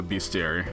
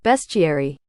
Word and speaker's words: bestiary: On the other hand, we have the thumper, also known as halves, according to the beastiary. How do you say that? Wait, hold on. Bestiary.